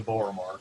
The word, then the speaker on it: Boromar: it is probably the borromar clan okay which is the halfling organized crime in the city gotcha and that's like bore a mirror but spelled with an a uh b-o-r-o-m-a-r okay okay so they